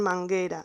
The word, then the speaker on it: manguera: como por ejemplo en manguera. En manguera esta letra U no la vamos a pronunciar porque después tenemos la letra E.